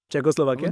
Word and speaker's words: Czechoslovakia: How do you pronounce it? Czechoslovakia.